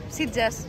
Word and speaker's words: Sitges: ¿Cómo se pronuncia? Sitges.